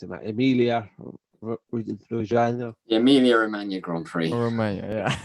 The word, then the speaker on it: Emilia-Romagna: Emilia, how do you pronounce it, Matt? Emilia Romagna.